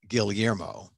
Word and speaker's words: Guillermo: people you know they they say my name wrong and it's filipino and you know the filipinos say the double l's guillermo i i know i'll be